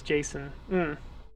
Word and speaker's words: JSON: data streaming assets hmm oh you're one of those who say json i pronounce it as jason json yeah json i used